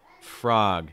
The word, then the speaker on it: frog: of your tongue down same thing with the next word too frog frog it's not frog it's more frog after that we have